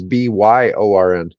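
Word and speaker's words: Björn: But Yeah, yeah, all the Scandinavian countries pronounce that like it was Byorn.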